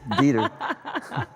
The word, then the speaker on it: Dieter: I hope I pronounced that right. It sounds so German. Dieter, oh, yeah. I would imagine you would pronounce that right. It's Dieter.